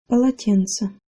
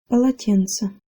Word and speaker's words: полотенце: Полотенце. Полотенце. Полотенце. Most of the syllables in this word are hard. Pa, la, and then tse at the end. However, in the middle, tsin is soft.